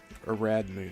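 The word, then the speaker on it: Ariadne: I think it's Aradney. Aradney is the way you pronounce that here.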